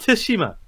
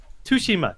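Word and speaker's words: Tsushima: for trying but like the game itself in game they have two different pronunciations sometimes they pronounce it with the tea sometimes they don't and and blazian that doesn't help tashima tsima tashima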